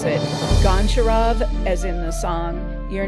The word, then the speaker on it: Goncharov: Most film nerds go for the Russian pronunciation, which is used in the movie. But you can always tell a noob on Letterboxd who pronounces it Goncharov, as in the song,